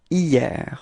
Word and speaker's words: hier: Repeat, hier. Okay, so it's quite funny because actually it does start with a H, but then in French we don't pronounce H, so we've got the sound hier, hier.